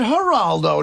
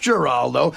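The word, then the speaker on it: Giraldo: But, but seriously, the producer mispronounced Greg's name. He said Heraldo, not Geraldo.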